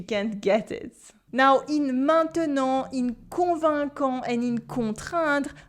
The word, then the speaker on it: maintenant: These 3 letters, A, I, N, sound like the nasal un if they're placed at the end of a word or just before a consonant, like the T in maintenant or the Q in convaincant. But of course, it's French,